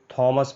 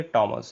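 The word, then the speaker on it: Thomas: का नाम, आप इसको थॉमस पढ़ते हैं। ये थॉमस नहीं है, ये टॉमस है। इसका प्रोनाउंसिएशन होता है टॉमस।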